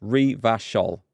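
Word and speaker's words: Revachol: is coming together yeah Riva shoulders pronounced Reve a shawl or runya Runyan a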